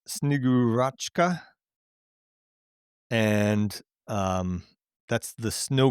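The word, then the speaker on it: Снегурочка: Um but it's it's pronounced Snigurua and um that's the snow maiden.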